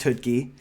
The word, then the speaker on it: Choutka: Last name looks like Choutka, pronounced Choutka.